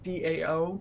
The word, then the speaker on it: DAO: by decentralized autonomous organizations otherwise known as daos dao pronounced dao and those daos are